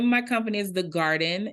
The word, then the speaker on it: Guarden: The name of my company is The Garden. It's spelled GUARDEN, like guard, like basketball guard.